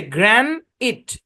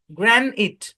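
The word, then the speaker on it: granite: বলে গ্রানিট কি উচ্চারণ বাংলা যদি বলি গ্রানিট এটা হচ্ছে অরিজিনাল উচ্চারণ কিন্তু বাংলাদেশের প্রত্যেকটা টাইলসের দোকানে এটাকে উচ্চারণ করে গ্রানাইট গ্রানাইট গ্রানাইট উচ্চারণ করে করা কিন্তু এটা ভুল আপনি এই শব্দটাকে কে আইপিএ দিয়ে চেক দেন।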